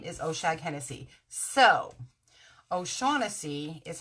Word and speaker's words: O'Shaughnessy: my last name is ocean Hennessy so O'Shaughnessy is how it's pronounced but key and Peele do this bit where they pronounce everything phonetically and so they pronounce my name the last name Hennessy and the funny thing is that the boy